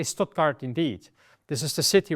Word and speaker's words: Stuttgart: When you have the combination S and T, and it's at the beginning of the word, it is almost exclusively st. So the T remains, but instead of S, it's sh.